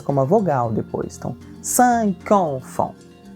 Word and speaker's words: cinq: Então, CI, como em português, se pronuncia com o som de S e a gente vai dizer cinq. O Q final tem esse som de C, explosivo, né? Cinq.